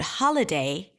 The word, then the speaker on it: holiday: and only one so in the word holiday the primary stress falls on the first syllable ha ha holiday right so it has this emphasis there continue the primary